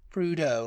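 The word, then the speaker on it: Prudhoe: have pronounced it then I would have PR pronounced it prudo prudo prau yeah yeah prudo like cludo and where is it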